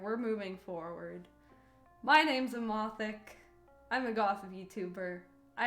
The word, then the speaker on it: Emothic: moving forward my name's amathik i'm a gotham youtuber i have really bright green hair i really like the color green but my name is pronounced eema thick emphasis on the thick um i go buy